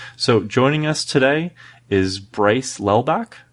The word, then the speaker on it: Lelbach: So joining us today is Bryce Lelbach. Bryce, did I pronounce that right? Yeah, you got that right.